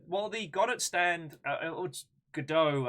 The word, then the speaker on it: Godot: they got it stands Godot I believe is how everyone's pronouncing it but I'm going to keep calling it got it because it makes